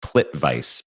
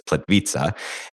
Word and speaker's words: Plitvice: So it looks like plit vice but it's plit vita.